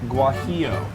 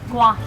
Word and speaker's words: Guajillo: How do you pronounce it? Guajillo. Guajillo.